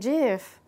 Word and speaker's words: GIF: Definitely GIF. Definitely GIF. For real? I'd be saying JIF. Like the peanut butter? I don't see no J up there. That's how the creator says it's supposed to be pronounced.